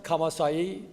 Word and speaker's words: Kamassai: My name is Kamassai. Sounds like double E at the end, but I can spell it Kamassai.